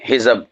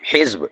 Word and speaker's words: حزب: کی جمع ہے، حزب، یہ بھی ہم کہہ دیتے ہیں حزب، نہیں حزب، یہ اخبارات میں بھی